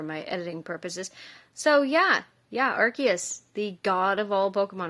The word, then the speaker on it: Arceus: So yeah, Arceus, the god of all Pokemon, or Arceus. My bad. That's how my favorite YouTuber Mikey pronounces it, and so I'm going with that.